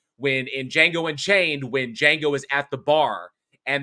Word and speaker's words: Django: And if you remember, when in Django Unchained, when Django is at the bar, and then the other guy walks up and he says, what's your name? It says Django. The D is silent.